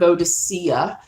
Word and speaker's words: Boadicea: ever heard of Boudicca the English I think pronounced heard Boadicea but the C really should be a hard C but then the English do that soft C and a lot innit okay I'm